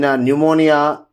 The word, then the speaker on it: pneumonia: speak about silent P, the letter P is not pronounced at the end, the beginning of many words using the combination of PS, PT and PN. So with the combination of the letters S, T and N, whenever you just speak about, then P becomes the silent letter, like Psalm, Cephology, and